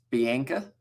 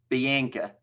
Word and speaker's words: Bianca: And no, it's the English pronunciation, definitely not the Afrikaans one. So it's Bianca. I'm just going to say that one, Bianca.